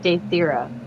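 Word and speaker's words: Daethyra: name again for me yep it's d-a-e-t-h-y-r-a date thira wow I did not spell that right at all yay I've got a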